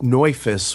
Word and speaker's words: Neufuss: It's actually pronounced Neufuss, which in German means new foot.